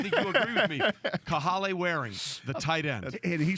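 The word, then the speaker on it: Kahale Warring: I'm going to get 10 minutes on Kahale Waring. You got the pronunciation right.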